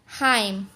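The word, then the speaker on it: hymn: Column, dam, हाइम, यानी कि एच आई एम एन है तो इसका एन हमारा साइलेंट है तो इसको पढ़ेंगे हाइम।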